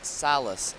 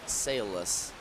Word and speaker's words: Salas: It is Salas, not Salas, when it comes for Ethan Salas.